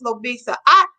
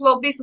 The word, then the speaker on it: Lobisa: But when she comes out, I say it phonetically, like it's Lo, L-O, and then Bisa, like Lisa, L-I-S-A.